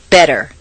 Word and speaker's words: better: the T in listen the Double T in better is pronounced d better any other pronunciation will